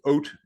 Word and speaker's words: haute: So haute sauna, but it's oat is actually the correct phonetical, like oat, but with a little h.